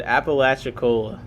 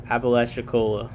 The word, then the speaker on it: Apalachicola: Mbrun said Apalachicola.